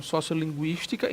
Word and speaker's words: sociolinguística: tá vendo aqui sociolinguística o u se pronuncia como trema mas não se escreve mais o trema a pronúncia continua dessa forma né como se fosse o trema sociolinguística e não linguística né